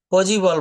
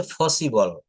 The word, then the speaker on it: possible: তারপর বলছে পজিবল বলা যাবে না, এটা হচ্ছে ফসিবল।